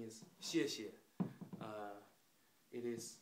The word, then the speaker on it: 谢谢: So I'm going to teach you some simple Chinese, like it is thank you, and in Chinese pronunciation is 谢谢.